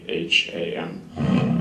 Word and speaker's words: Lapham: My name is Lapham, and it's Lapham. And I'm here as the General Counsel for Rover. And thank you for the opportunity to talk this morning, so I appreciate the invitation. Mr. Lapham, are you from a law firm?